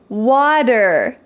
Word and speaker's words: water: Water, water. Sweater, sweater. In American English the T changes to a D sound.